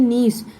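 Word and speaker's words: gneiss: देखिए इसकी स्पेलिंग थोड़ी जी से शुरू होता है और इसको पढ़ते हैं नीस।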